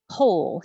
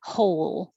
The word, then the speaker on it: whole: pronunciation are so different whole doesn't matter if it's the kind that has w in the spelling or not we don't pronounce the w so you just begin